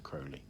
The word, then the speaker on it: Crowley: words that could be could be pronounced Crowley all Crowley ozzy osbourne famously did a song called mr. Crowley which is an excellent song but but it is actually Crowley and we know this